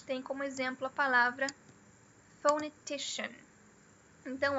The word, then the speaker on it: phonetician: Então, ó, aqui a gente tem o apóstrofo invertido no começo. Isso indica que essa sílaba aqui é a secondary, não é mais fraca e também não é mais forte. E a mais forte tá aqui, ó, é o T. Então fica phonetician. Phonetician.